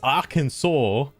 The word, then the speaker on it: Arkansas: You can't tell me it's Arkansas when it's spelled A Kansas.